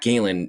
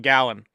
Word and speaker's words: Gallen: Zack Galen is a great pitcher. I'm not going to take anything away. Interesting way of pronouncing Gallon. That's a Zack Gallen. I've I've heard both, but Gallon, sure.